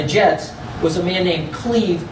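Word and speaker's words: Clive: The guy he did hire from the Jets was a man named Cleve, spelled Clyde but pronounced Cleve Rush, who went on to have a nervous breakdown.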